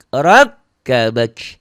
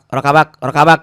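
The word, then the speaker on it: רַכְּבָךְ: Fi ayyi suratim ma syaa rakkabak. Karena kalau nggak dia ajarin begitu, bisa akibatnya kayak gini bacanya nanti. Fi ayyi surati ma syaa rakabak gitu. Tasdidnya nggak ada.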